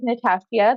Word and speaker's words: Natashia: um yeah so um my name is natashia that's how you pronounce my name because everyone always wonders